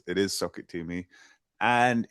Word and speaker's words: SOCKITTOME: Uh, so it's pronounced socket tumi which is like crammed all the words together to make one word which people can sometimes mispronounce but it's it is socket to me and it's it it